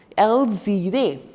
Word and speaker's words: elles iraient: You can't pronounce it as L, ire. You can't. You have to pronounce it together, which is known as liaison. Elles iraient, the consonant and the vowel.